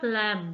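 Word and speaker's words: lamb: silent है then हमारे पास लम लम में हमारे पास ब तो मोस्टली हमारे पास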